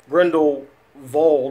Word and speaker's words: Grindelwald: Beast the crimes of grindle Ward or grindle VA because they pronounced the W as a v in this film so from now on